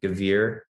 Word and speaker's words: Gavere: can look it up by my name gevier last name is spelled g a v as in victor e r e gavir um also instagram i'm at yak101 i'll